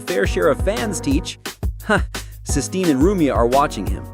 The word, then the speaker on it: Sistine: Sistine is blushing furiously, shouting, "It's Sistine! Stop mispronouncing it on purpose!"